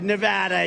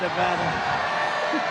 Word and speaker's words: Nevada: and you always have to say it correctly Nevada you got to call it Nevada with thousands of proud hardworking americ Patriots and